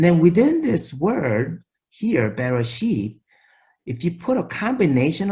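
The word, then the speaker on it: בראשית: So you kind of have to pronounce it with the consonants, Bareshiyth.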